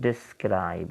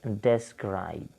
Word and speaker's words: describe: So similarly the word is describe, it's not describe. Okay, it's describe.